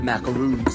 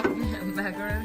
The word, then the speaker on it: macarons: Marsh the Macaroons, Savannah. Did I say it right, Jenna? Macarons.